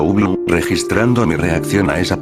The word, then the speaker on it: Ubloo: Porque no quiero ver a Ubloro, respondió, pronunciando Ublu, registrando mi reacción a esa palabra.